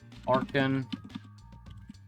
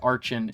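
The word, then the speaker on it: Archen: Arkin. I don't care if people pronounce it Archin. It's Arkin, like archaeology.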